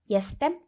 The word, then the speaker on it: Jestem: Here J is pronounced as Y. I will repeat again. Jestem Aakanksha.